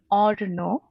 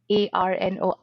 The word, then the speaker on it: Arno: my first name is or no i know it it reads a-r-n-o like arno but in bengali it's pronounced as orno which is very hard